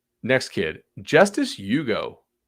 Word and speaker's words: Ugo: Next kid, Justice Ugo. Like the car, but it's spelled U-G-O.